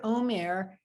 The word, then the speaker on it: Omer: The word Omer, which sounds like the word for speech, Vayomer Adonai, and God said, El Moshe, to Moses. It's a different spelling. This is spelled with ayin. The word for speech is spelled with an aleph, although they do sound the same unless you have a